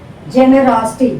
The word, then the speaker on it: generosity: Now third syllable from the back we have to check. This is the back first syllable, second syllable, third syllable from the back is raw. So generosity, raw has to be stressed. Generosity, generosity, not generosity, generosity. You have to stress the raw.